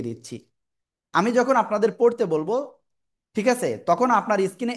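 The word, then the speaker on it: ب: দুই ঠোটের ভিজা অংশ থেকে অক্ষরটা উচ্চারণ হবে। আর এক আলিফ টানব। টেনে পড়ব মাত্র এক আলিফ বা বা তো এক আলিফ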